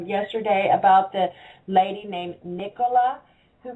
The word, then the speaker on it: Nicola: from shopping, I said, make sure you say her name right, Nicola. Don't say Nicola.